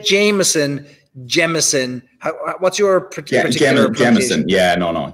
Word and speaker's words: Jameson: What's your particular Jameson? Yeah, no, Jameson like a diamond. Like a diamond is a gem, so a Jameson.